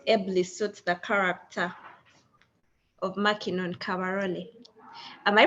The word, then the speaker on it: Mackinon Kabarole: So our first question is, what 5 words ably suits the character of Mackinon Kabarole? Am I pronouncing it right though?